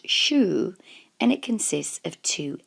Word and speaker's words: 週: Kani for week in this video tutorial it's pronounced Shu and it consists of two elements on the